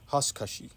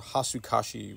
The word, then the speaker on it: Hasukashi: This first type of partial defoliation is called Hasukashi. Or Hasukashi would be kind of the American way of pronouncing it.